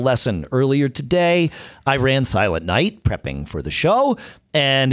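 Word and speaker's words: Silent Knight: a much easier way silent night with a silent K there you go silent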